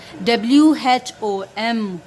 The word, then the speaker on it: whom: Whenever WH is followed by a vowel O, it makes the sound as H.